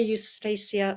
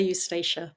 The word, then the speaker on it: Eustacia: You can either say Eustacia or Eustacia, and I say Eustacia, but feel free to say Eustacia.